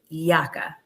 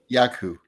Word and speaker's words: Yacu: and also speaker Drew yaka did I say it correctly yaku yaku okay yaku well welcome Drew to